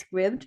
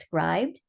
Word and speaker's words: Scribd: There's an website called, I've always called it Scribd, but somebody recently pointed out to me that it's probably pronounced scribed.